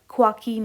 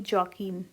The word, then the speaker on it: Joaquin: ये जो वर्ड है JOAQUIN, ये एक स्पेनिश वर्ड है और इसका प्रोनाउंसिएशन ख्वाकीन होती है, ना कि जॉकीन, इट्स ख्वाकीन।